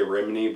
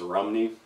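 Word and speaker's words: Rhymney: The Bells of, well, they say Rimini, but I think it's pronounced Rumney.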